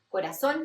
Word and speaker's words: corazón: Corazón lo escribimos con Z en español, pero lo pronunciamos como si fueran dos S, corazón.